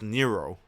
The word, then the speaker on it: Nero: I finally learned how to say his name. You know that dude named Chaos? His name is Nero. Call him Nero. I'm like, okay. Just call him Nero.